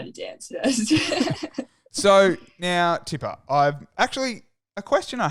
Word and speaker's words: Tippah: I'm like Tippah, and they're like, what? I'm like, Tippah.